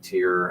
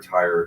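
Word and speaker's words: Tyre: and lands each of places like tear and or tire depending on your pronunciation and then you sort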